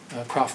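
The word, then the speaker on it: Kropf: with that and uh crof passed away a few years after that would you spell his name the first um k r a PF k r a PF C he pronounced it crof Philip crof and uh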